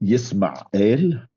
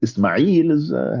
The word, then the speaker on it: Yisma'el: One of the things that we could say that's quite interesting is that Yisma'el, this is the Arabic, the original Arabic pronunciation. Now, Ismail has a different story,